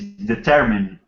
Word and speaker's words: determine: You said the correct pronunciation is determine. Determine. Determine. But determine this it doesn't exist. This kind of pronunciation like determine it doesn't exist. No, we wouldn't say determine. Determine. Determine. Short I.